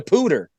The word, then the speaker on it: Poudre: I had to look it up because it's spelled Poudre. So I'm like, how the hell? I'm like, how the hell do you pronounce the name of this river without screwing it up? And I looked it up, and it said they were saying Poudre on the news. It's the Poudre River.